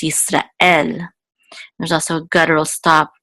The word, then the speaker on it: Israel: to n it's not in English we accent the first so we say Israel but in Hebrew it's Easter L there's also a guttural